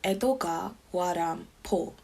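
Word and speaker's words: 江戸川乱歩: from who he took the Japanese pronunciation of his name as a pseudonym, Edogawa Rampo.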